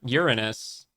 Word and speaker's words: Uranus: male symbol Uranus that's the Uranus symbol yep Uranus that's how you say it you're you're yeah